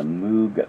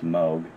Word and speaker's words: Moog: it switched on rock by the moog machine or moog machine depending on how you pronounce it i've always thought it was moo but i guess it's moog um this has spinning